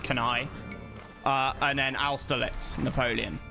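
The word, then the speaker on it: Cannae: That um uh that the that and then the Hannibal beating the Romans at uh Canai uh can Cana as as it some people might say, but it's actually pronounced Canai.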